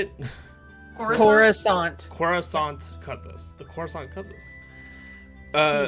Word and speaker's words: Coruscant: At the bottom of the case, you do see a plate that says the Coruscant Cutlass.